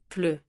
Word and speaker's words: pleut: And il pleut means it is raining, with that very French vowel, pleut.